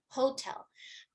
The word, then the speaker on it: hotel: So they'll say hotel, but it receives stress on the second syllable.